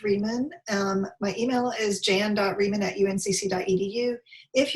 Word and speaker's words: Rieman: It's pronounced Rieman.